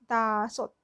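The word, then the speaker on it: 다섯: इसमें भी ये इसकी क्या है, इसकी देखो साउंड नहीं आ रही है ना, सिर्फ इसकी आ रही है, इतने पार्ट की, दासोत, दासोत। ठीक है, तो ये वाला साइलेंट क्यों है? क्योंकि इसके साथ कोई वॉवल नहीं है। इसके साथ वॉवल नहीं है तो इसकी कोई साउंड नहीं है, लेकिन अगर इसके साथ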